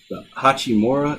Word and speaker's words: Hachimura: The Hachimura is how you say it.